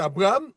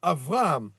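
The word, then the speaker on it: אברהם: Mais par contre, s'il est au milieu du mot comme à Abraham, nous on va prononcer Abraham mais c'est Abraham, ce sera un vê.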